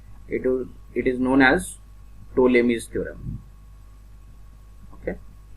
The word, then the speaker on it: Ptolemy's: It is known as Ptolemy's theorem. Okay. In the name T is silent, so it is known as Ptolemy's theorem.